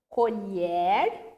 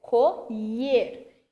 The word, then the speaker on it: colher: eles estão fazendo cormier notem que a minha pronúncia colher colher e como que eu vou